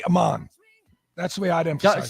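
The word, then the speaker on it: Ahman: know this is it Aman green or Aman green the emphasis on the first half of his name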